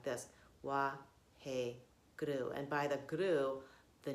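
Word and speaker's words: Waheguru: Your mantra is Wahe Guru. Wahe guru. You can use it, you can treat it as a 4-syllable thing, Wahe guru. But we're going to treat this as 3 syllables in this meditation.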